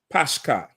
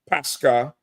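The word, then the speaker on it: πάσχα: And here is the, you have the Greek word, and then you have the pronunciation under where it says Pashka. You see it? Pashka.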